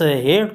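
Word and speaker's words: hate: इस्तेमाल किया गया है, लेकिन नफरत का जो वर्ड है यहाँ पे ई प्रोनाउंसिएशन में काउंट नहीं होती। ये लॉन्ग वॉल है, यानी लॉन्ग वॉल में ई आखिर में आता है और ये प्रोनाउंसिएशन में नहीं आती। तलफ़ुज़ उसकी प्रोनाउंसिएशन उस टोपी वाले हेट की तरह है, इसी वजह से इसको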